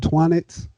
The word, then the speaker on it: Twonnets: It's called Twonnets. It is available on Amazon. Twonnets is spelled TWONNETS. It's like sonnets, but